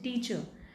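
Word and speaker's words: teacher: र कहाँ पे साइलेंट होता है, जब र से पहले वोवल साउंड होती है तो र साइलेंट होता है, टीचर। अब इसके देखिए र साइलेंट है, इसका मतलब ये नहीं कि हम इसे टीच बोल देंगे, no, this is टीचर, टीचर, अ, टीचर।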